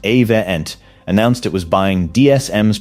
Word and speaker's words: Avient: On April 20th, 2022, a company called Avient, pronounced Avient, announced it was buying DSM's protective materials business.